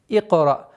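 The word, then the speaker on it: اقرأ: Одна из самых распространенных ошибок это икра или икра. То есть уведение этого звука на удлинение или на гортанный звук айн. Самое правильное это резкая остановка. Икра, как бы прерываете звук резко.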